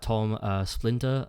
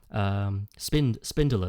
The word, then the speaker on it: Spindler: Tom Splinter, I think that's how you pronounce his name. He was actually voicing Wario a couple of times. Spindler, that's it.